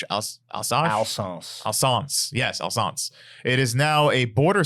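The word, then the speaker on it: Alsace: later on um storg yes how do you pronounce that Al s a c alash alance alance yes alance it is now a border City in eastern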